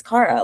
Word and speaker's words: Cara: Who is Cara?